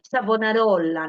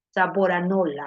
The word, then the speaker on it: Savonarola: nuevo grupo de pensadores acá te pone savonarola no sabor sabor anola a veces lo pronunciado mal sabor anola que sale